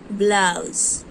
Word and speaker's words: blouse: Blouse. In this word, letter E is silent, but we have to write letter E when we are writing the whole word.